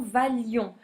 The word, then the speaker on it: valions: On supprime le i et on supprime un l, la prononciation valions, que vous valiez et qu'il vaille.